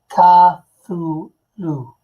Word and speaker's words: Cthulhu: Oh Oh laughs Allah I mean most people pronounce it tah through loo Cthulhu I smell it too